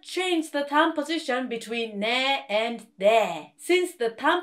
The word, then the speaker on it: 네: position is exactly the same when korean people pronounce there there there see i did not change the time position between near and dear since the time position is the